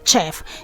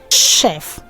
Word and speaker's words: chef: Words that have their CH as sh are rather mispronounced as ch.